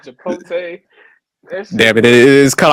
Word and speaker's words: Chipotle: Say Chipotle. It's Chipotle. Is what we'll say it again? It's Chipotle. Chipotle? Okay, Yes. okay. I don't eat that shit. So that's like country as hell, huh? He said Chipotle.